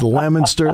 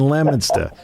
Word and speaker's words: Leominster: I'm the only host in the country outside of Massachusetts that actually can pronounce it correctly. It is Leominster, Fitchburg, and Leominster.